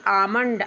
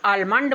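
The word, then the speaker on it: almond: ए एल एम ओ एन डी आमंड। आमंड means बादाम। कुछ लोग आलमंड बोलते हैं। आलमंड उच्चारण नहीं है। इसका शुद्ध उच्चारण है आमंड।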